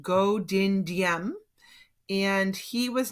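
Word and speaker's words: Ngô Đình Diệm: they had their own leader his name is pronounced Ngo Dinh Diem and he was not a communist but he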